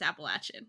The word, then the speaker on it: Appalachian: it up and yeah if you listen to the pronunciation on Google it's appalachin and I'm like wild see